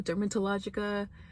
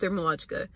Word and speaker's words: Dermalogica: of it um it's the brand is called dermalogica i don't know why everybody always gets that twisted they'll be like oh dermatologica i don't know just making up like how it's pronounced it's called dermalogica so basically it's an